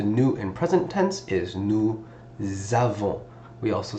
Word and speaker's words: nous: We learned we is nous. Remember, don't pronounce the S.